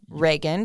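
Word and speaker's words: Reghin: from Cluj we're in Reagan did I say that right yeah like the president of the United States yeah Ronald Reagan yeah that's spelled differently um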